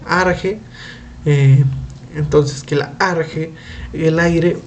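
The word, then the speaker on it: ἀρχή: en acciones consideraba que la archer que era pronunciese arjé entonces que large el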